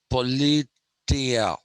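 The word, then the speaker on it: πολιτεία: by aristotle was this particular word which is pronounced politia just like uh in the morning we had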